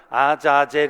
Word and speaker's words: 아자젤: 아 사세를 이 하여 원래 발음은 아자젤 입니다 자 재 를 위하여